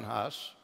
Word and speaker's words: Hus: of judgment against John Huss heard Huss say, and the word Huss in Czech means, or Hus, as it is pronounced in Czech, means goose.